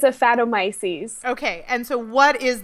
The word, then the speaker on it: Aphanomyces: So what is the correct pronunciation of this disease? It's Aphanomyces.